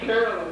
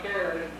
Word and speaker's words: Carolyn: It's Carolyn, not Karen.